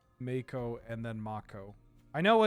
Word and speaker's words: mako: it in Yu-Gi-Oh yeah Mako or is it moo M A KO o short fin the short fin Mako Shark ma moo it's Mako it depends if we're using the proper Maui definition or pronunciation or if we're using the English pronunciation it is a lone